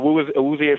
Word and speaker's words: Awuzie: There's another guy that I actually love how you pronounce his name? Awuzie? Yeah, no, Awuzie from the Bengals.